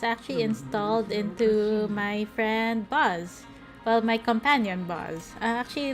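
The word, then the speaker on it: Boz: His name is spelled B-O-Z, Buzz.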